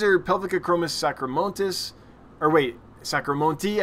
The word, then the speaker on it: sacramontis: So these are Pelvicachromis sacramontis, or wait, Sacramonte, I think the S is silent on the end, you said, Bob, something like that.